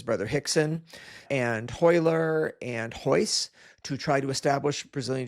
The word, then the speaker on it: Royce: Portuguese, when the R is at the beginning of the word, it's pronounced H. That's why you'll see it written as Royce or Rigan, but it's Royce and it's Rigan.